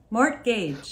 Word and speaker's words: mortgage: aspartame Gage Gage mortgage mortgage why did you pronounce the T Quest guest Quest axed